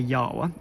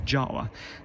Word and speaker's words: Jawa: known as czechoslovakia and in the czech language the letter j is pronounced same as we pronounce y in the english language so the correct saying